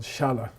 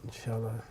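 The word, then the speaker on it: शाल: It's called Shala in Sanskrit. Shala. Okay. And this is a long A. This is how you show a long A in ACIP transcription.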